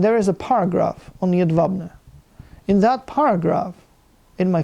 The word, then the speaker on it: Jedwabne: Jedwabne. J is pronounced like a Y. Yeah, okay. W is pronounced like a V. Jedwabne. Okay, Jedwabne.